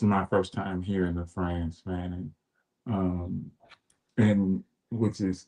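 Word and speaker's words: Frantz: can honor our ancestor France Fannon. And I know it sounds like his first name sounds like the country, but his first name is spelled F R A N T Z.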